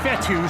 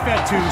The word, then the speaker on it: Fetu: So Coach Fetu spelled F-E-T-U. For the longest time, I was pronouncing it Coach Feta, like feta cheese.